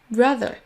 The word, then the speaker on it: brother: Then, the, brother. Si votre langue ne sort pas légèrement, vous ne faites pas le bon son.